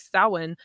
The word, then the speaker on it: Samhain: just so based in ours as well like samhain which is it's spelled s-a-m-h-a-i-n it's actually basically the halloween like